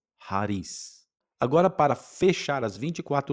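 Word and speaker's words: χάρις: E na pronúncia erasmiana, eh, o ri ele tem um som como de um r fraco.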